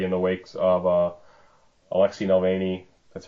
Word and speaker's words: Navalny: It seems like he's been very outspoken for a lot of his career, but especially lately in the wakes of Alexei Navalny, that's how you pronounce it, being imprisoned by Vladimir Putin.